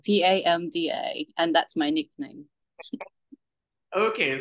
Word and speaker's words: Pamda: And let me introduce you to Padma. Am I pronouncing your name properly? It's PAMDA, PAMDA, and that's my nickname.